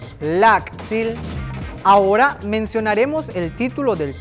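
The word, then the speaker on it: láak'tsil: Familia en maya se dice lactil, lactil, lactil, lactil. Ahora mencionaremos el título del tema, familiares. ¿Tú sabes cómo se dice? Se dice así, lactilop, lactilop, lactilop, lactilop, lactilop.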